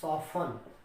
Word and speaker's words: soften: SOFTEN, इसको हम पढ़ेंगे सॉफन। क्या पढ़ेंगे? सॉफन। SOFTEN mean सॉफन।